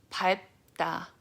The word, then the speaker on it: 밟다: And usually it's the word 다, but it's because of the consonant assimilation, you pronounce it da instead of ta.